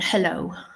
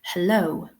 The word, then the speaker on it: hello: So we now know with certainty that the second syllable is stressed. Yeah. We say hello.